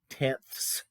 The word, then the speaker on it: tenths: The reason I'm saying it, so pronouncing it that way, is so you hear that I'm saying tenths and not tens.